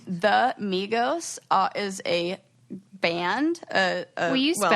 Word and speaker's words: Migos: The Migos is a band. Will you spell that? Rap trio, Migos. Oh, it really is like Amigo.